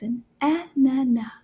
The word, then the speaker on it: ananas: you say pineapple is an ah na na and anana is one of those words that the last letter is quiet there's no sound so we pronounce let's